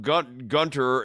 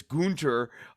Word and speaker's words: Gunther: No, it's not Gunther, it's Gunther.